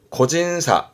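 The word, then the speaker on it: 個人差: 교차로 의미했는데 발음은 코사땡, 코사땡. 개인차군요. 고진사, 고진사.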